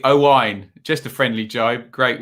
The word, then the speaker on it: Owain: Get the Welsh name right, not Owen. Phonetically, Owain.